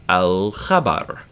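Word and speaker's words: الخبر: Khabar is a piece of news, khabar, and it's pronounced in the back of your throat, back of your mouth, really, rather. So we're going to hear the L in alif lam, al-khabar.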